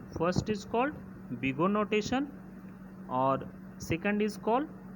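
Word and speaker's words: Big O: नाउ जैसे यहाँ पर मैंने बोला कि order ऑफ जी ऑफ N pronounced बिगो ऑफ जी ऑफ एन या ओ एच ऑफ जी ऑफ एन.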